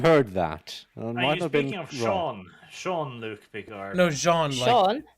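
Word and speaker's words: Jean-Luc: is Sean Sean Luke Bard oh is it pronounced sea oh okay I thought it was Johan yes no in my universe it's Shawn now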